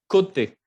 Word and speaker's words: côté: Hay un acento agudo, entonces vamos a decir côté, que es el lado.